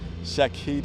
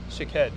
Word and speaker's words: Shaked: No, How you say it? Shaked. You got to say the kid. I think I said kid.